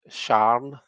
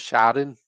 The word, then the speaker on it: Sharon: A Glaswegian is someone from Glasgow, but Glaswegians often say Sharn, so it's like they make it one syllable. And it's just a kind of a slang way of saying it. There's probably lots of accents that actually say it like that. Um, so Sharn instead of Sharon, my mum hates it.